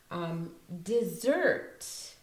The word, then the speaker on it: dessert: Dessert is also pronounced with it like a Z. The S is pronounced like a Z. There's more emphasis on the next part of the word, so the zert part. So dessert, like that.